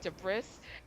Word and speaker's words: debris: Like it's spelled like debris but you it's pronounced debris.